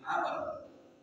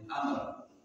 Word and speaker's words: Amr: yaitu Sur selanjutnya Abdillah Amr dari Abdullah bin Amr singstosi Kok bisa dibaca am bukanak padahal tidak ada harakatnya to enten Ti Niki nek enten wawune niku bacanya Amr Kalau tidak ada Wu